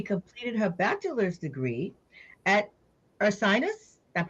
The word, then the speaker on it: Ursinus: mhm, She completed her bachelor's degree at Ursinus, I'm pronouncing mhm. it correctly, You did, Ursinus yeah.